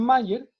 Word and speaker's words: Mayer: los nombres se pronuncian igual, los dos se pronuncian Mayer, pero ¿Ya?